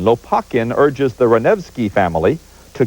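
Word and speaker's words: Lopakhin: checkov plays and I'm going to have to pronounce some words here so bear with me Lakin l o p a k h i n Lakin urges the revi family to cut down a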